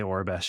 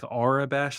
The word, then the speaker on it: Aurebesh: I do say Aurebesh, yeah. I think Okay. some people say like Aurebesh, like they put a little bit of Aura, a higher like Aurebesh, Aura. Aurebesh.